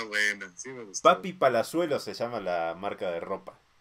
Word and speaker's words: Palazuelos: Palazuelo se llama la marca de ropa. Ajá. Que en realidad hay que pronunciarlo bien, que sería como Papi Palazuelo, güey. Papi Palazuelos, güey.